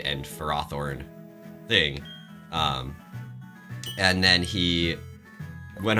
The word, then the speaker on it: Ferrothorn: Ferrothorn. Ferrothorn is the official pronunciation of that.